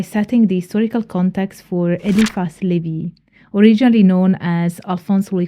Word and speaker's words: Éliphas Lévi: We begin our exploration by setting the historical context for Éliphas Lévi, originally known as Alphonse Louis Constant, and often called by English native speakers as Éliphas Lévi, but I will go for the French pronunciation.